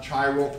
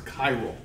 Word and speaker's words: chiral: it's chirality okay okay it's not tribal it's chiral okay uh people rightly